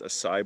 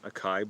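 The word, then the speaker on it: açaí: It's pronounced acai bowl, not acai bowl.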